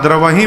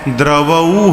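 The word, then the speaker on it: द्रवउ: वहाँ द्रवही पढ़ते हैं, द्रवही सो दशरथ अजिर बिहारी। द्रवही नहीं है, द्रवऊ है।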